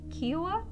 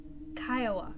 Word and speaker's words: Kiowa: genuinely curious so i am from the kiwa tribe is that am i pronouncing that correctly kiowa kiowa okay my apologies um that's really cool